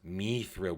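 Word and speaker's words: Mithril: something and then elrond says no it's it's me thrill we we pronounce it me through L Ron named me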